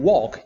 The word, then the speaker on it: walk: it's not pronounced also when you pronounce talk and walk you don't pronounce it and this appears normally